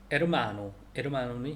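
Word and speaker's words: hermano: 그래서 에르마노는 형제인데 에르마노의 앞에 H가 있어요. 근데 묵음되는 거죠.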